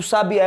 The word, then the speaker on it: sabiá: gente tem que saber que o sabiá é um substantivo uma espécie de pássaro então é Sabiá e o sabia que